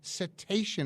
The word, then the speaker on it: Cetacean: His family donated that collection to the Cetacean, am I pronouncing it correctly?